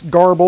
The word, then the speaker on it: GRBL: However, if you are looking for something that's cheap and basically works, there's always Garble or GRBL, however you want to pronounce it.